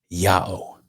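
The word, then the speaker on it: ΙΑΩ: Iota, Alpha, Omega, I AO, pronounced Yao.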